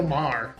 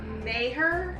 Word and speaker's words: Maher: hate that like Bill Mah is what got the pronunciation right that's not bill Mayer no it's Bill Mah I thought there were